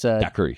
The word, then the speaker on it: Dakuirii: It's Daiquiri. Yeah, at Daiquiri, but it's not even spelled like normal Daiquiri. It's DAKUIRII.